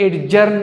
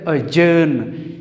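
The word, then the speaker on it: adjourn: ये लफ्ज़ एडजर्न नहीं है, ये लफ्ज़ है अजर्न।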